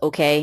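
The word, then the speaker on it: Åke: Yeah, it's spelled A-K-E, but it's pronounced okay. Yeah, Swedish.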